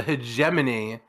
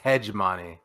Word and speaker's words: hegemony: the H the the hegemony I've always pronounced this word when I've seen it as hman but I have no reason to believe that's how it's pronounced so there's a hegemony of man uh I